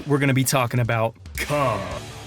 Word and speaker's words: Kum: Today, we're gonna be talking about Kum. It's actually pronounced Kum.